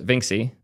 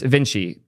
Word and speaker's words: Vinxi: It's Vinci. Cool. It's spelled Vinxi, so it's called Vinxi now.